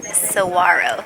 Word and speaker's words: saguaro: to teach you a little bit about this Saguaro which is actually pronounced Saro Saro wow once Saro reach 75 years old that's